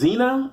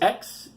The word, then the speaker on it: Xenia: Xena, it's Xenia.